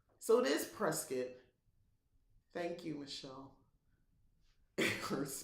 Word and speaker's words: Prescott: Prescott, Prescott, the E is pronounced like the E in edible. Oh, Prescott. So it is Prescott.